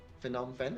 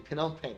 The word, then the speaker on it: Phnom Penh: Phnom Penh, is that how do you pronounce it?